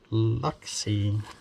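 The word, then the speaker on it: Luxse: Prestige Femme boy uh my name is pronounced lucky can you say that Luxy l-u-x-s-e not C how about yours is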